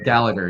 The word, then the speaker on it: Gallagher: you're at calling gag I'm now I'm gonna mangle your name no Gallagher yeah it's a it's it's a mouthful of Irish syllables so like I I